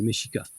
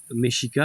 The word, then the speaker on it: Mexica: 16e siècle, c'est les méchikas. Dans la langue soit-disant qui s'appelle le nawat, le X se prononce comme cheveux. Donc Meschik, c'était le nom de la nation qui régnait au moment de l'arrivée des espagnols.